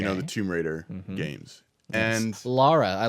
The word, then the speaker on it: Lara: And Lara, I like that you said it right. Right. There's people out there that still say Lara Croft, and it makes me want to smack somebody.